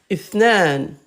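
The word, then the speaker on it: اثنان: On l'écrit, mais on ne le prononce pas. Naam, tahiyya al-Jazair. Ithnan. OK? Ithnan.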